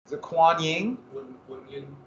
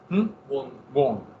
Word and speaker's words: Kuan Yin: Is it Kuan Yin? Wang Yin. It's wrong. I knew that too. Wong. Yeah. Like W-U-N-G. Even though it's spelled Q-U.